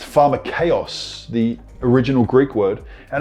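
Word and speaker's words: φαρμακεύς: But if you look at the original language, the koine in Greek, it's actually a word underneath it pronounced pharmakeos, the original Greek word.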